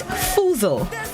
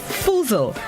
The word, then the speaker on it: foozle: This morning's word of the day is foozle. Foozle. It's spelled F-O-O-Z-L-E, foozle.